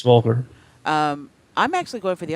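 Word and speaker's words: Voelker: Is that how you say it, Volker? Yes, Volker.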